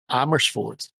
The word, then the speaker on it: Amersfoort: I mean, let's have our Dutchie say it. Yeah. Amersfoort. There you go.